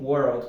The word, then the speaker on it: World: é o som do l em palavras como World por exemplo muitas pessoas falam como se tivesse apenas duas sílabas mas são três worth eu vejo um